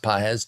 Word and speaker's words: Pages: hit Andy pz looks like pages but it's pronounced pz 274 average four homers a steel 13 runs